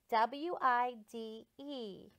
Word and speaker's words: wide: a little bit okay WI de what was it wide why I didn't silent E we don't even hear him like that paper was